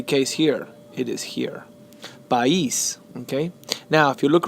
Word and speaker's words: país: The stress is sobre la I.